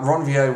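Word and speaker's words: Ranvier: ronier and uh Ron I'm not PR pronouncing that to be pretentious uh ronier was actually a French physician who identified these little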